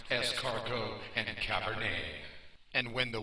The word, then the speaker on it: escargot: and takes a girl to dinner and orders escar dos with a little Cabernet and the waiter doesn't want to embarrass the nerd and tell him it's pronounced es cargo and Cabernet and when the waiter brings them